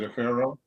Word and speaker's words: Afro: See, my mom pronounced it a pharaoh. Oh. But as I was growing up, everybody, including my teachers, would say Afro, so I just said, all right, I give up.